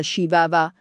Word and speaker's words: Chihuahua: A volte questa razza è chiamata "shi-wa-wa" (pronuncia inglese di Chihuahua).